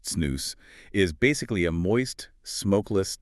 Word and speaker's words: snus: So, SNOS, and it's pronounced SNOS, is basically a moist smokeless tobacco product.